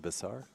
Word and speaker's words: Besar: So, Eddie, you pronounce his name Besar? Yeah, that's Besar.